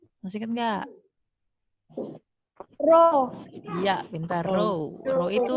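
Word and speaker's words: ρ: Massa jenis itu apa nih bacanya? Masih ingat nggak? Rho.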